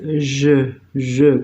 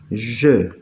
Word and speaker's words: je: Acuérdense que el pronombre es je, con la E cerradita, ¿sí? La E francesa es E. Entonces el pronombre es je. Y la combinación ahí me va a dar como resultado el sonido E.